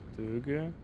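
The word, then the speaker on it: Tōge: It's pronounced Töge and is basically a type of Japanese free driving on narrow mountain passage roads.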